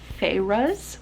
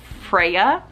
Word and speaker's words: Feyre: always want to say Freya, but it's Feyre. I always want to say the name wrong.